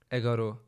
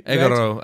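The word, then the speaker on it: এগারো: Egaro. I feel like I feel like I'm gonna trust you. Egaro, 11. Egaro. It sounds a bit like egg roll.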